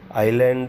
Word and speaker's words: island: ISLAND आइलैंड उसको बोलते हैं. एस जो है वो साइलेंट है.